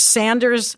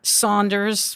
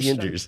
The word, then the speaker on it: Sanders: And by the way, may I just say here, it's Sanders, not Saunders.